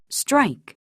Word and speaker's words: strike: 그런 부분에 유의하면서 이 단어들의 원어민 발음을 들어보도록 하겠습니다. golf, golf. 2, friend, friend. shoes, shoes, cash, cash, strike, strike, bridge, bridge, hand, hand, 네, 골프가 아니라 golf죠.